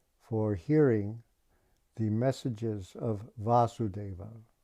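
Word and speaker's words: Vāsudeva: hearing the messages of vasudeva long a that's krishna vasudeva this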